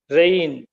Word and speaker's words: reign: now examine the word rain the spelling and the pronunciation you must have noticed that the letter g is silent let's see some more